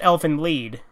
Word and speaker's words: Elfen Lied: li e d so it's spelled like Elfen Lied but it's pronounced elfin lead but yeah it's e